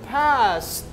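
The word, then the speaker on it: passed: ED is pronounced like T. So we say past.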